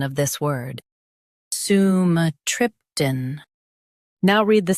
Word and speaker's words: sumatriptan: SUMATRIPTAN. Now read the syllables shown on the screen naturally. Su, m, trip, tan. SUMATRIPTAN. Emphasize trip and keep tan light. Su, m, trip, tan. SUMATRIPTAN.